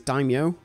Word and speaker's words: daimyo: I think it's daimyo. That's how it's pronounced.